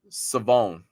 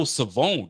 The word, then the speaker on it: Siobhan: Is it Shavon or Siobhan? Savone. Oh, Savone. Golly, I've been missing. Okay, so and so the H is silent.